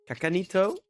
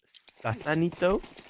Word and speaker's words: Sasanito: Previously, I pronounced it Kakanito. Apparently, it is Sasanito.